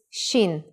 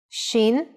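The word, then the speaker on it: שין: Shin is pronounced shh when the dot is on the upper right side.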